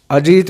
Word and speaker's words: अजीत: जब बोल दिया मैंने, तो सामने वाला क्लर्क अगर नॉर्थ इंडिया का है तो, यानी कि वो प्रोनाउंसिएशन थे करते हैं, हम तय बोलते हैं। नॉर्थ इंडिया में तय होता है तो वो थे बोल देते हैं, तो वो आपके